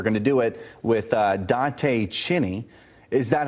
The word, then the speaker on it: Dante Chinni: And we're going to do it with Dante Chinni. Is that how you pronounce it, Dante Chinni?